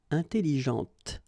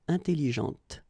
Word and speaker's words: intelligente: with an adjective, okay, intelligente. Same thing here. When you put this well, actually you will pronounce the final T, okay, but you don't pronounce this here, intelligente. Okay, so une voiture, elle parle, intelligente.